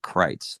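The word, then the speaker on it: Critz: I think it's technically I think it's called Crites like c r i t z is that right do I pronounce that right yep yeah you got it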